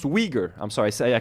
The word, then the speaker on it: Uyghur: It says it's pronounced Uyghur.